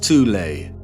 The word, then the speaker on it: Thule: society within germany called the thol society sometimes alternatively pronounced tulay that had sub-factions within